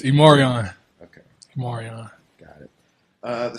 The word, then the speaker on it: E'Marion: It's Imarion.